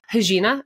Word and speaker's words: Regina: Am I saying it right? Yes. You're actually crushing it. Most people are like, what? It takes them a moment. You got it right out of the gate. It's the Portuguese version of your name, correct?